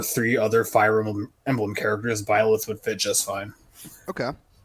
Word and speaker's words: Byleth: you're pronouncing it wrong. It's Byleth, not Bayleth. Byleth, excuse me, Byleth, There you go.